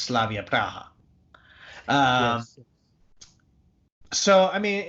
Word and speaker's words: Slavia Praha: it is product but the club's pronounced Slavia Praha so I mean it's